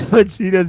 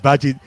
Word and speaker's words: Vegeta: that he pronounced Vegeta like Yeah, he pronounced Vegeta's name wrong. He said Veggie.